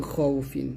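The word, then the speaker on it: خوف: খও মিন খফা মিন খৌফিন তাহলে এখানে হবে এখানে খাওফ বলবেন না খৌ বলতে হবে একসাথে বাংলা দেখুন দিবেন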